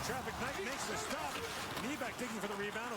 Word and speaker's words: Nybeck: Nybeck digging for the rebound. It was out of his reach. Nybeck, by the way, is N-Y-B-E-C-K. In Swedish, N-Y is knee, like Nylander.